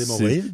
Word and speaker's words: hémorroïde: Ça, c'est comme les hémorroïdes? c'est une insertion. Pourquoi c'est H? Hémorroïde? Tu commences avec un H? Ouais, Ok, ouais, parfait. ouais. Ouais, H muet. hémorroïde. H muet.